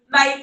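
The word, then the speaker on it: knife: ही कर रहा है कोई से भी वर्ड ले लो नाइफ है के नहीं सुनाई दिया तो एई लिख दिया तो उसको समझाना पड़ेगा कि रिटन में होता है पर साइलेंट होता है नहीं साउंड आ रहा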